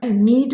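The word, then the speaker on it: knead: low then you कैन नीट the dough फिर तुम आटा सान लेना यहां पे के साइलेंट है नीड यानी गूंथना डो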